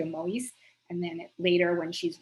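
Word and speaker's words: Moïse: these two women penina moyesi and or perhaps pronounced moise not i've seen a few different on wikipedia and elsewhere they seemed it seems like the original pronunciation was more closer to mowi's and then later when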